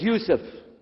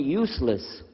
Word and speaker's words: Yusuf: we'll work on itah my name is Yousef can you say Yousef say Yousef very good I wish you teach my wife she keeps mispronouncing it she calls me useless alhamdulillah now how